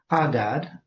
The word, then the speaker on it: Hadad: Now, there's also this other name, Hadad, and that puts a het, which is just the letter that gives you that guttural sound at the beginning of the word.